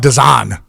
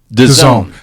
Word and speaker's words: DAZN: I keep calling it DAZN. DAZN. See there, Frank? You had me beat. Well, this coming from me pronouncing words has never been my strong suit.